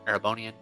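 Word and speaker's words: Erebonian: in case anyone's curious for future reference it's pronounced aerobonian case you're curious thank you for your cooperation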